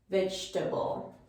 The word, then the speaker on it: vegetable: it to you all if we take out the o and we take out this e when we are pronouncing it it will come out much easier vegeta vegetable so we go right